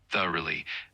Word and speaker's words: thoroughly: Uh and yes, the word is pronounced thoroughly with the emphasis on the first syllable like thoroughly.